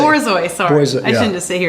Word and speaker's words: Borzoi: Boyzoids? Are they robots? How do you say it? Borzoi, sorry.